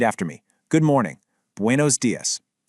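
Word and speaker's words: días: Buenos dias. Notice that little accent mark on the letter I in dias? That means you put a little extra punch right there.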